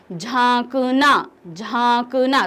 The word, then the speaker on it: झांकना: झांकना।